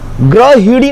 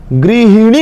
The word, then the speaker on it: गृहिणी: ग्रहिणी नहीं होता, ग्री ग्री, ये देखिए, ये जो गृहिणी है, ह में बड़ी की मात्रा नहीं, ह में छोटी की मात्रा। गृहिणी नहीं होता, गृहिणी, गृहिणी, गृहिणी बोलते समय ही सही बोलिए।